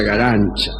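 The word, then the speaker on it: Garanča: llama Elena galán se escribe garanca pero se pronuncia para su desgracia galancha es muy feo y acá casi bien y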